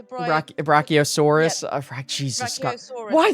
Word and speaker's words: Brachiosaurus: So my son Loix just said it. It's a Brachiosaurus.